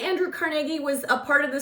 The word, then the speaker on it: Carnegie: want to say Andrew Carnegie was a part of the story, which I live in Pittsburgh. That's the correct way to say, it's not Carnegie, it's Carnegie.